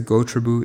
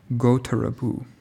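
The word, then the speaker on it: gotrabhū: can't yet get across sorry I was mispronouncing that pali ward go to ravu okay what this means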